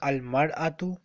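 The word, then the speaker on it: المرأة: The singular form of this yes when we add alif lam it will be pronounced al mar'atu when we don't write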